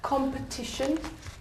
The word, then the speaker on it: competition: And the word competition. Where's the syllable? Where's the strong syllable? Competition. Competition. Very good.